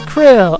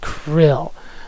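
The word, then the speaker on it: Krile: crew grandpa it is krill i looked up how to pronounce her name in it i'm gonna go with krill i'm so glad you're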